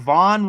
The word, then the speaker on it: Vaughn: Ooh, and Vaughn rhymes with John, and we had That's Lindsey weird Vaughn.